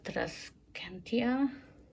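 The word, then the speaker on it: Tradescantia: This is the Trascantia.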